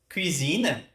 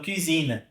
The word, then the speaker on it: cuisine: Cuisine, cuisine. Temos cousin, que seria primo, né? Então, cuisine. Inclusive, a pronúncia é essa, né? Em inglês também, cuisine. Mesmo a pronúncia francesa, mas aqui cousin vai mudar, né?